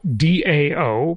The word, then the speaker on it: Dao: capital and that's Tao Dao but pronounced Tao I believe and then it's the